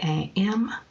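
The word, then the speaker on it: Yam: jasmine chamomile and hyssop the mantra for the heart chakra is why I am and it's pronounced iam and during meditation the vowel is drawn out like this yeah alternatively as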